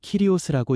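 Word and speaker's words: κύριος: 여기서 주라는 말은 헬라어로 키리오스라고 읽습니다.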